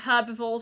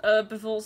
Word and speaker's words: herbivores: the most basic food for herbivores or herbivores as americans pronounce it so uh we need